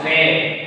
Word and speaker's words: très: Tre. Why? Because you know that S we don't pronounce. S will be silent at the final position, because S is final silent consonant. Generally we don't pronounce S. Okay. And you know that when A carries accent grave, A will be pronounced A.